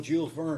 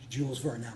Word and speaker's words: Jules Verne: going to walk up and down the steps because I know Jules Vern is going to cross my path."